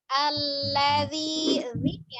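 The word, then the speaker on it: الذي: Allazi, zalnya tidak ditekan, lembut saja.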